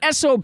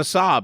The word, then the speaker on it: Saab: that true there's no you're spelling it wrong I'm saying it right sob yeah but I'm driving an sob but you people say I Drive a Saab and I always feel